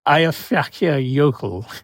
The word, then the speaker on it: Eyjafjallajökull: can you pronounce the name of that volcano? I think it's Eyjafjallajökull.